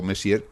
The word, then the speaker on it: Messier: que es el catálogo Messier, pues eh este señor que fue un un astrónomo que vivió por allá por por 1700, señor Messi, pero no se escribe igual que el señor Messi en francés, pero bueno, señor señor, ¿no?